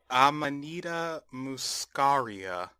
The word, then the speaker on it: Amanita muscaria: Amanita muscaria.